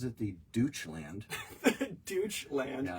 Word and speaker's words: Deutschland: That is, he pronounces it the Deutschland. Deutschland.